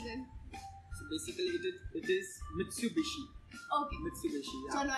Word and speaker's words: Mitsubishi: Mitsubishi.